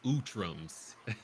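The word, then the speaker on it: Utrom: uh Lord beer says utams is how it's pronounced it's basically the cran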